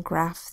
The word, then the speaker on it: graph: In graph, the G says G, the R says the A says A, and the PH says F. G-R-A-F. Say it fast, graph.